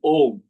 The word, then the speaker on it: Om: Now, the Om is pronounced differently. When you are doing your third eye chakra or your Anya chakra, you pronounce Aum, A-U-M. But when you meditate on your Sahasrara chakra, you pronounce Om, O-M.